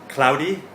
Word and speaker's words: cloudy: Alright, in today's pronunciation point, let's talk about the difference between cloudy, kumoteru, and crowded, konderu.